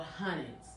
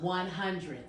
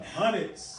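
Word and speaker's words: Hunneds: Because I was pronouncing it before, I was like, the Wild 100s. Oh, no. Okay. Now I know you're possibly not from here. It's not like, H-U-N-D-R-E-D. It's H-U-N-N-E-D-S. The Hundreds.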